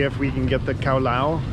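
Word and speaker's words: cao lầu: we can get the cowl I'll I think is how it's pronounced but it's the dish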